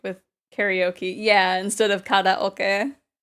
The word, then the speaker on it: karaoke: Interchange pronunciations on a whim, like with karaoke. Yeah, instead of karaoke. Karaoke is the anglicized version, but I prefer the Japanese pronunciation.